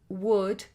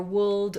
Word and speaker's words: would: Other ways of producing like in those modals, could, would, should, where the OU produces the sound and the L is silent. Remember that. The L is silent. It's not cooled or wooled or should.